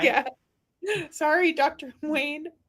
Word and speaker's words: Wayne: Polly Esther says it's Wayne, not Dwayne the Rock.